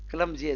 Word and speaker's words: clumsy: क्लमजी, CLUMSY, क्लमजी, Z से उच्चारण होगा, क्लमजी, क्लमजी, क्लमजी, क्लमजी, क्लमजी, क्लमजी, right.